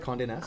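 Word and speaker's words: Condé Nast: were a travel journalist for condé am i pronouncing this right Conde Nast Conan asked publications yeah yes Travel Magazine yep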